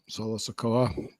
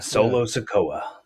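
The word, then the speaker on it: Solo Sikoa: Solo Solo Sakoa. Yep. Did I say his name right? You did. Yes. Solo Sakoa.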